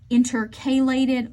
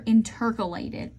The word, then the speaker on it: intercalated: And then you have these things called intercalated or intercalated. Both of those are appropriate pronunciations.